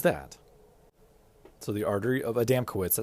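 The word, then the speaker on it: Adamkiewicz: So the artery of a damco that's spelled adm k i e w i cz.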